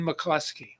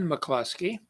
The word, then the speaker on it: McCluskey: going to do is something called quinn mccleskey now you may hear it called quine mccluskey and that's okay the guy that um